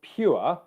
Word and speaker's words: pure: And I'll just answer the specific point on how do you pronounce pure, because that's there's a y sound in there which can add to the complexity of that word.